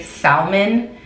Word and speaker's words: salmon: that people that say salmon are Hispanic and it's because we say salmon so it makes sense why it would be confusing to not pronounce the L in English when the L is there like it's stupid so